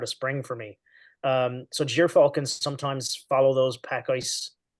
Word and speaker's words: gyrfalcon: I've heard that pronounced so many different ways, and I don't even know if I pronounce it correctly, but I always say gyrfalcon.